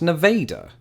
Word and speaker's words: Nevada: people of Nevada that I will pronounce it Nevada what's that there's a city in Iowa with the same name as pronounced Nevada I give up bring on